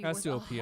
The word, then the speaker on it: Cassiopeia: The stolen Cassiopeia necklace is said to be Cassiopeia, worth that's how you 100 pronounce million it.